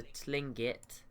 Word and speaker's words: Tlingit: City already nothing as of yet from the Tlingit that's how that's how you say it and